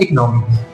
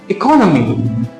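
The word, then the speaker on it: economy: बहुत सारे फ्रेंड्स मेरे या बहुत सारे स्टूडेंट्स इसका प्रोनाउंसिएशन करते हैं इकोनॉमी, but this is the wrong pronunciation. तो राइट प्रोनाउंसिएशन क्या होगा फ्रेंड्स? इसका सही प्रोनाउंसिएशन होता है इकोनॉमी।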